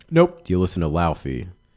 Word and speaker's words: Laufey: Nope, Do you listen to Laufey? not Leifei.